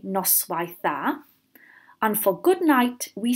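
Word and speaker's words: noswaith dda: we want to say good evening we say nice wife that and for good night we say Norstar so I'll say those again board our turn hound our nice wife thar nor stir and again board our plan hound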